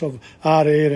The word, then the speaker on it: ho: italian it's yo o the h is not pronounced no i didn't give